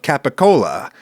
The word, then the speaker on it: capicola: Cole and pursuit yeah gabagool is capical gabapool is the like American American Italian famous weird pronunciation of capicola which is a kind